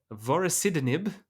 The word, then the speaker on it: vorasidenib: Josh, why don't you take us away on our final ride, one last ride, with Indigo, the study of vorasidenib, that's how you pronounce that word, in gliomas.